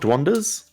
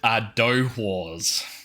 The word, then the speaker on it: dohwar: Dwanders? These are called dohwars. I believe that's how it's pronounced. Dohwar, correct? Correct, yes.